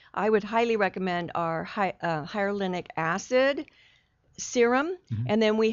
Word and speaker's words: hyaluronic: For wintertime, I would highly recommend our hyaluronic acid serum, and then we have a cream, and we have a day cream and a night cream as well.